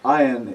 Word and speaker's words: ayin: is very similar to the pronunciation of aleph, but a little different. Those of you that know some of the African dialects will notice a certain similarity. Ayin is ayin, and aleph is aleph.